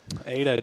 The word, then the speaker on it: Ada: And I'm I believe you pronounce it Ada Oklahoma. Yes, Ada sir.